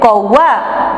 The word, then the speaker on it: कौवा: जैसे एक शब्द हो गया आपका कौवा, तो ये औ है तो हम यहाँ कौ नहीं बोलते, कौवा, ओ आ, ऐसे उच्चारण करेंगे।